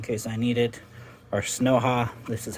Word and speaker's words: YukiHalu: Our Snowha, this is how you pronounce it, the Snowha Ceiling Fan Remote Control Kit.